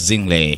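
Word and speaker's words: Zinhle: Zingle. Yes. Ndio inavyotamkwa hivyo, kina Pearl Tusi na wengine, sio?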